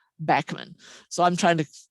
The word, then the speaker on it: Bachman: cockade woodpecker stands and the rare bachmann sparrow or bachmann sparrow some pronounce it but uh on the state ornithologist cliff shackleford has met the family and they pronounce their family name bachmann so i'm trying to